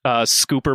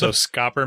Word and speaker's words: Scopper: His name's Scooper, but it's spelt Copper after the S. So Scopper? So it's really Scopper. it's basically Scopper, but I think you actually do pronounce it Scooper, which is weird, but